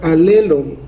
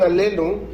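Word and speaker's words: ἀλλήλων: Hay una palabra que se repite en el Nuevo Testamento varias veces, y una palabra griega que se podría pronunciar alelon.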